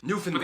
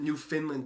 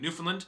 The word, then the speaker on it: Newfoundland: guys pronounce it newfoundland newfoundland the emphasis on the new not the finn which is like an fn not even an eye because i pronounced it new finland before but all the